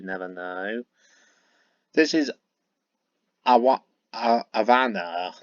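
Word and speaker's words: Ivana: know this is a want aana that's how you pronounce her name I V A N A I believe I do apologize if I pronounce her name wrong Avana um I don't have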